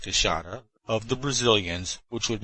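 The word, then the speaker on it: queixada: the big white-lipped peccary the kashata which is pronounced kushana of the brazilians which would make our collection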